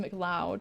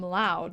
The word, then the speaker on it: McLeod: McLeod is pronounced McLeod, so I'm not going to call him loud.